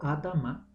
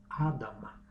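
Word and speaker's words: אדמה: El suelo del cual Adán fue creado pronunciado Adama, Aleph, Dalet, Mem, Hei. Tienen la misma raíz y familias de la tierra pronunciado en hebreo Mishpahat, Adama.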